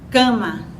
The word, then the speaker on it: cama: A palavra cama, temos duas sílabas, K e Ma. Então, a sílaba tônica é a primeira, K, não é? Então, depois dessa primeira vogal, a primeira letra que ocorre é uma consoante nasalizada, o Me, tá? Cama. Então, esse A, necessariamente, o A de K,